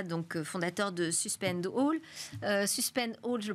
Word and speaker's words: Suspend All: Suspend All, je le prononce bien, c'est on suspend tout, c'est exactement.